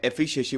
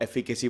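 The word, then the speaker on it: efficacy: एफिकेसी, पहले मैं एफिशिएसी बोलता था, मेरी आदत हो गई थी। बाद में फिर मैंने सोचा कि नहीं, अब एफिकेसी बोलने का वक्त है। कुछ वर्ड्स ना मैं मेरी आदत है उसको गलत प्रोनाउंस करने की, मुझे पता है बहुत गलत आदत है, तो अब से एफिकेसी बोलूंगा।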